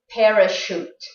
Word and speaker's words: parachute: And don't think that every word that has a CH has a ch sound. That's not true. And these are the words you have to be more careful about, like the words chef, Chicago, machine, and parachute.